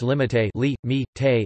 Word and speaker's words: límite: papa pa pa daddy, or Spanish limite li me te a limit, present subjunctive limite li me te that I he limit, and preterite limite li me te I limited.